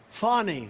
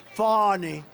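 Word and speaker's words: Fani: these local cases like funny funny it's spelled Fanny it's spelled Fanny like your ass right fatty but when she became da she decided to add a little French a little fancy fonny fonny and you know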